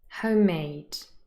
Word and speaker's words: homemade: for the stress part-time homemade old-fashioned hard hard-working here the stress is on the second syllable part-time homemade those two